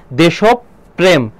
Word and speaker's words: দেশপ্রেম: দেশপ্রেম, আগে আমি অনেকবার লিখেছি, এখানে দেখো উচ্চারণটা হবে দেশপ্রেম, দেশপ্রেম হবে। তাহলে দেখো দেশপ্রেম আছে, প্রেম তো হয় না কখনো, দেশপ্রেম এটা হবে। যার সঙ্গে যে বর্ণের সাথে রফলা থাকে সেই বর্ণটা দিতে হয়, পয়ের সঙ্গে আছে যেন প কয়বার হবে, 2বার হবে, দেশপ্রেম।